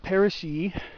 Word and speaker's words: parrishii: I believe I have seen both, the woolly blue curls, Trichostemma lanatum, and the Parrish's blue curls, Trichostemma parrishii. Yes, I pronounce the two I's at the end like E.